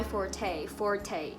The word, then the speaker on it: forte: Biasanya orang bilang it's not my forte, bukan fort, kayak fort bikin rumah-rumahan di sekolah atau misalnya di rumah pakai selimut, itu namanya fort. Nah ini bacanya forte.